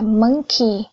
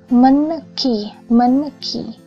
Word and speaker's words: monkey: Ở đây đọc là monkey hoặc là bank hoặc là English.